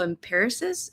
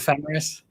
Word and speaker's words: Ephemeris: Also use this app called Photo Empiricist. Empiricist? I can never say it right. Photographers Um, Ephemeris.